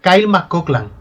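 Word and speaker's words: Kyle MacLachlan: Se pronuncia Kyle Mcoklan.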